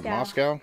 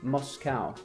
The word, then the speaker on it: Moscow: Moscow. Moscow? Moscow. Moscow. See, Americans say Moscow.